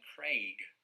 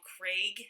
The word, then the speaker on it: Craig: those films but i pronounce his name daniel craig daniel craig what what revelation that is but i think that daniel craig has been in the news enough that even in america we would say his name daniel craig i suppose the fact that he's british as well you hear that pronunciation quite often right but if it was the the first name craig it'd be craig wow craigslist right yeah yeah yeah